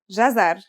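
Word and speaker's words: جزر: It's pronounced jazar and means carrot.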